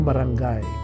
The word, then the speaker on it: barangay: The locals called the place Burubarangay, literally like a barangay, pronounced without the hard G.